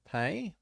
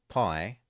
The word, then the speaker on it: Lenape: Didn't they say pay? Pay. P-A-Y. Pay, not pie.